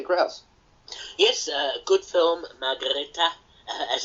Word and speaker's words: Margrete: go to Peter Grouse yes uh good film margareta as it's pronounced uh seven out of ten from me